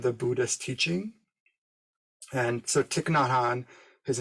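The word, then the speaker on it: Thich Nhat Hanh: the heart of the buddhist teaching and so tiknotan his name is spelled t-h-i-c-h not is n-h-a-t and han h-a-n-h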